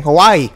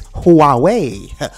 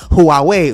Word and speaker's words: Huawei: got y'all last time I I kept saying Hawaii but now it is Huawei Huawei okay I told you guys I was going